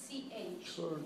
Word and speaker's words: church: CHURCH. Church. Church. Remember that sounds like ER? Church.